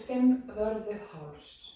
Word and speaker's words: Fimmvörðuháls: I don't even know how to pronounce this trail. No, it's Fimmvörðuháls.